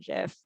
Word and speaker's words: GIF: Hard G is the only right answer, says Meredith.